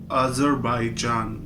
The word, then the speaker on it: Azerbaijan: this time we are doing the country called azerbaijan i am not pronouncing it wrong might be you sound it wrong it's a z e r b a i j a n other by john if you in as an